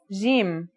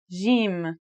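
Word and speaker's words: ج: the word jam, while in Egyptian Arabic, it sounds like the G in the word game. They're both quite easy to pronounce, though. Now, let's handwrite the isolated form. Jim, here are the initial, medial, and final versions of Jim.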